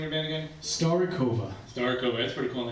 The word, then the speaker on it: Starikovia: So, how do you pronounce the name of the band again? Starikovia.